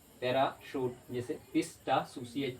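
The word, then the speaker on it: parachute: जैसे पैरासूट, CH को क्या पढ़े श, पैराशूट।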